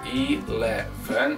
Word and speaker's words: eleven: avec la même intensité l'anglais dès qu'on dépasse les deux syllabes il y en a une d'accentué eleven on va insister sur la deuxième ça va faire eleven